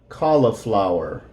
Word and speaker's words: cauliflower: potatoes I don't like cauliflower now this word here the U is going to be silent call lit flower a cauliflower cauliflower I like potatoes